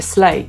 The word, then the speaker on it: slay: Angielskie słowo slay zapisujemy slay i wymawiamy właśnie slay. Jest ono dla nas proste, bo jest krótkie i przypomina play, które świetnie znamy.